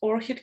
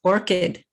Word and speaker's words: orchid: Tracy, how to pronounce orchid correctly? That's it. Orchid.